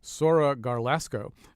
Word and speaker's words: Sora Garlasco: say her name correctly Sora garlasco uh a female pipe smoker right here in Connecticut first of all how did I do it saying your name oh that was fine all right okay acceptable